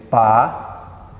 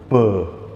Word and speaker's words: pá: Eu digo, por exemplo, pá e não pã.